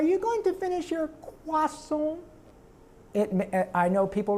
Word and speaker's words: croissant: But the reason I said croissant was a choice, because it's written in the script, C-R-O-I-S-S-A-N-T, croissant. That's how you say it.